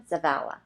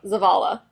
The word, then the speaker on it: Zavala: I wrote it out phonetically. Say it again. Zavala. Close. Go. Zavala.